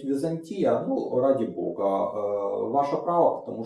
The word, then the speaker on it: Византия: есть вопросы по удалению Я говорю Византия потому что оно происходит это город Ну и слово это абсолютно искусственно поэтому никакого правильного ударения там быть не может его это слово никто в те времена не знал знали город поэтому удаление на букву кто-то считает что правильно говорить Византия ради Бога Ваше право